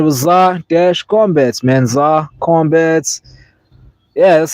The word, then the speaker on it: Zar-Kombat: They were calling me like Zark Ombat, and I put the dash in there so people could know to separate the Zar from the Combat.